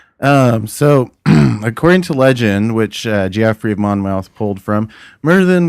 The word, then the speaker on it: Geoffrey: So Merlin was the creation of Joffrey of Monmouth. Let me get that right. Jeffrey. Geoffrey? Yeah, how do you Joffrey? pronounce that? Geoffrey? Geoffrey of Monmouth.